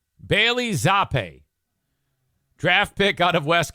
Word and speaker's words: Zappe: Your third string quarterback is Bailey Zappi. Zappe. Is that Zappi? I mean, it's spelled like frappe. Maybe it's Zappe. Bailey Zappe.